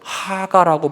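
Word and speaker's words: הגה: 여러분, 이 묵상이 히브리어로 하가라고 발음하는데 가장 단순한 표현은 뜻은 읊조리다, 반복하다는 거예요.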